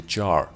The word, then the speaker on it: Char: CDC just show the Char I believe this is how you pronounce that just your dis jar without s in the end yeah if you can